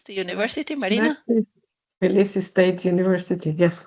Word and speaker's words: Tbilisi: How do you pronounce the university, Marina? Tbilisi State University, yes, correct.